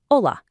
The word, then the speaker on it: hola: Just a quick micro tip to kick us off, the letter H at the very beginning of hola is completely silent. It's just pronounced hola.